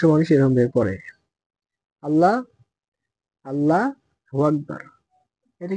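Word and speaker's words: اللهُ أَكْبَر: হলো মূলত সঠিক উচ্চারণ আল্লাহু আকবার এখানে অনেকে আমরা ভুল করি কি এই যে হামজা লাম জবর আল লাম খারা জবর লা এখানে বলি আমরা কি আল্লাহ এখানে আল্লাহ হবে না আল্লাহু আল্লাহ হবে হাফেশ হু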